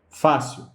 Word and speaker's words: fácil: Fácil é uma palavra que tem duas sílabas e a mais forte é Fá. Fá é a penúltima sílaba dessa palavra, certo? Ela não é a última, ela é a penúltima sílaba dessa palavra, apesar de que só tem essas duas. Então, como fácil tem a